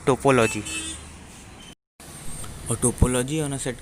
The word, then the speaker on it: topology: And mind की कोई ट्रोपोलॉजी बोलता है, बट एक्चुअली इसका प्रोनाउंसिएशन होता है टोपोलॉजी।